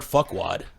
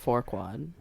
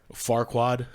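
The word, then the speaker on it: Farquaad: guy's name is Lord Fuckwad. Yeah. But it's pronounced Forquad. Farquad.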